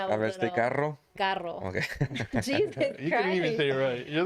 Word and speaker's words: carro: something, but they'll say like instead of carro, they'll be carlo.